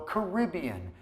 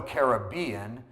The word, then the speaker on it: Caribbean: It sounds better than Royal Caribbean, but the Royal Caribbean is the Caribbean because lots of people say it that way.